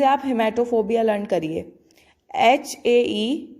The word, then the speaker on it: haematophobia: हीमोग्लोबिन आपने सुना होगा, उसी से आप हिमैटोफोबिया लर्न करिए। HAE ही मैटो, MATO, हिमैटोफोबिया। HAEMATOPHOBIA, हिमैटोफोबिया। इसमें जो A है वो साइलेंट है, ठीक है।